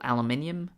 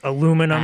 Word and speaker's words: aluminium: for example, aluminium superconducts. That's aluminum And- for us here in the States. Oh, yes, sorry, I forgot that there's also people that pronounce it incorrectly.